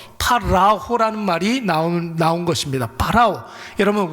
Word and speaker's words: 파라오: 파라오. 여러분, 우리 성경에서는 애굽의 바로 왕 이렇게 여러분 표기가 되어 있는데 원래 발음은 뭐예요? 애굽의 황제를 파라오라고 그러잖아요.